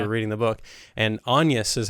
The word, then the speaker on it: Agnes: reading the book and Anus is how it's pronounced in pronounced in the movie at least. Yeah, in the movie. Yeah. Which I think is like the correct pronunciation per the time period.